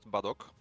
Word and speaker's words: Badok: uh I mean uh in Polish it's pronounced badok badok but really which whichever